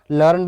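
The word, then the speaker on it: learned: Form की तरह अगर यूज करेंगे तो इसका प्रोनाउंसिएशन क्या होगा, लर्नड होगा।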